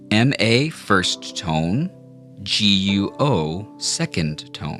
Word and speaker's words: 国: Okay, now let's practice saying G-U-O in the second tone, which is pronounced guo.